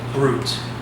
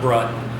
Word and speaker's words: brut: Brut, that's brut, it's not brut. Although, you're with some Frenchmen, they'll say brut.